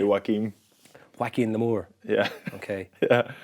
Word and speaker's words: Joaquin: Is it Joaquin Phoenix? Yeah. Or Jacqueline? Oh, it's Joaquin. Joaquin. In Joaquin D4. I think if you say Jordan Larmour, you say Joaquin.